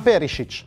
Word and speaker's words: Perišić: sua avventura all'inter stiamo parlando ovviamente di ivan perisic e anche qui vi devo fermare subito per assicurarvi che la pronuncia è corretta la scelta è delicata sia